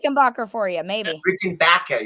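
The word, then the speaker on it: Rickenbacker: Baker for you maybe Rick and Baka you gotta say it like Marty Wilson Piper oh I got one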